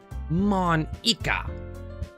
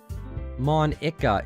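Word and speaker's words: Monika: it's writing your name Mon Iike hey that's not how you say my name at all oh isn't it Monica is it like Monica also that jokes made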